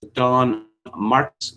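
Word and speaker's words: Don Marquis: And on October 9th, an American comic genius, Don Marks. Yes, that's how it's pronounced.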